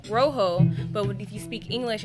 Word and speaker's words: rojo: you see the word read in Spanish it's pronounced Rojo but if you speak English it looks like